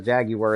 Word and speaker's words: jaguar: But jaguar and jaguar are apparently made up pronunciations, whereas jaguar is actually the way you pronounce it.